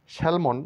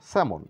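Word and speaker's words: salmon: বসা নট মানে গিট নেক্সট সাইলেন্ট লেটার এল কিছু কিছু ওয়ার্ডসে এল লেটারটির উচ্চারণ হয় না শ্যালমন না বলে বলবো স্যামন এখানে এল সাইলেন্ট ফলক নয় ফক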